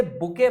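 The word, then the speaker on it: bouquet: एक बात तो ध्यान रखिएगा, इसे बुके पढ़ते हैं, टी जो वर्ड इसमें लिखा हुआ है ये होता है साइलेंट होता है, मतलब बुकेट नहीं पढ़ा जाता, बुके पढ़ा जाता है, ठीक है।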